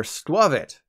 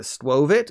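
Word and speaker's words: Skwovet: from the gala region their squivit for a few years I called it swovit exactly like it's spelled but you've realized by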